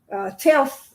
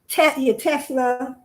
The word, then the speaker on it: Tesla: Telsa, I keep on saying it wrong. Tesla. I don't know why I had Telsa.